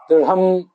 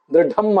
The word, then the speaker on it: ದೃಢಂ: ಅನ್ನೋದನ್ನ ಮತ್ತೊಂದು ಸರಿ ನೋಡಬೇಕು ದೃಢಂ ದೃಢಮ ಅಲ್ಲ ದ್ರುಹಂ ಅಲ್ಲ ಲಕಾರವನ್ನ ಉಚ್ಚರಿಸಿ ಆಮೇಲೆ ಹಕಾರವನ್ನು ಉಚ್ಚರಿಸುವುದು ಅಲ್ಲ ದೃಢಂ ಅಂತ ಹೀಗೆ ಉಚ್ಚಾರ ಮಾಡಬೇಕು ಮತ್ತೆ ಈ ಮೂಲಮ ಮಂತ್ರ